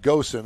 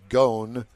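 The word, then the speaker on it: Ghosn: with former chairman Carlos I call him Goen I think it's pronounced gone and moan about who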